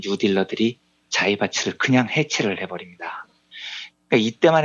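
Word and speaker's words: 財閥: 일본어로 자이바츠라고 읽고요. 예. 미쓰이, 미쓰비시, 스미토모, 일본을 대표하는 3대 자이바츠 재벌들입니다.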